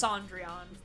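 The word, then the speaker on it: Cendrillon: some skills on that yeah it's sandron it's a pronun it's the French pronunciation of Cinderella what to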